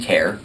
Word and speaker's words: Kiar: My name is Kiar. My last name is spelled K-I-A-R, and I'm the mayor of Broward County, Florida.